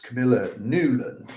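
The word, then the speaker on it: Camilla Nylund: It's Camila Nulan is the way it would be pronounced in Finland.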